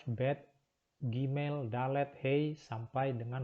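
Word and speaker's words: ב: Kemudian huruf berikutnya adalah huruf bet.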